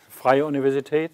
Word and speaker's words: Freie Universität: Well, Freie Universität, is that what you mean?